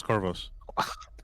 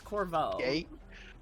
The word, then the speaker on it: Corvo: yes who was this carvos i'm trying no you guys are pronouncing it wrong so i want to make sure that yeah it's corvo all right uh am